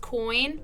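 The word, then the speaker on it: quoin: It's pronounced coin.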